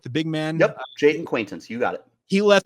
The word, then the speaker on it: Jaden Quaintance: say his name correct the big man yep Jaden quaintance you got it he left their last game